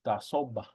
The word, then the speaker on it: dasoba: All right, the word for socks now is dasoba. Dasoba. Dasoba. Dasoba. Up in the northern dialects like Pyramid Lake and whatnot, they pronounce, instead of a B, it's a P sound.